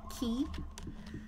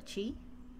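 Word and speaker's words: Qi: And, these are chi coins, apparently, not key. I kind of like key better, but someone was nice enough to let me know that it's pronounced chi, so thank you.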